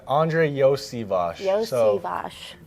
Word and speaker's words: Iosivas: Yeah, it's Andrei Iosivas. Iosivas. So, some people know me as Yoshi, but the SH part comes at the end of my name, actually.